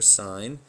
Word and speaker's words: sin: side there should be a sin button s n or sign that's how it's pronounced and then you're going